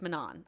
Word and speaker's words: Manon: we are introduced to Manon who is hi okay man man sorry I read man I know it's Manan I know it's I